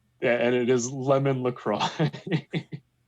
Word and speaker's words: LaCroix: Yeah, and it is lemon LaCroix. I think that's pronounced La Croix.